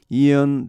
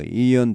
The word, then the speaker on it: Ian: as a former Marine, 전 해병대원으로 Ian David Long, 이언입니다. 발음은 아이언이 아니고 Ian David Long.